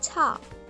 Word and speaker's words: 차: get its aspirated version, cha. Right? Now this has a sound of CH from chair, right? But then again, it's a bit softer.